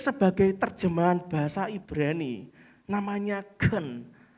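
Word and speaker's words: חן: Dipakai sebagai terjemahan bahasa Ibrani, namanya gen. Tulisannya HEN, bacanya gen.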